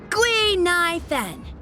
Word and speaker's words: Gui Nai Fen: My real name is Guinevere, but a Xianzhou friend came up with an authentic Xianzhou name based on the pronunciation. Gui Nai Fen.